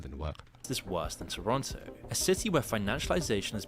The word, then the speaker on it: Toronto: lot more than just Toronto's housing market Toronto you have to say it like that he's pronouncing it wrong the true cost of